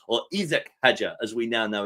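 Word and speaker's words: Isack Hadjar: But Isak is the French pronunciation, isn't it, of Isaac that we say anglicized.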